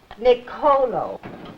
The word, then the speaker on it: Nicolo: Nicolo.